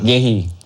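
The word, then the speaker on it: Guéhi: Bacanya apa sih Mang? Gehi Mang? Gehi. Karena dia nggak ada isinya. Kalau ada isinya Gehu ya?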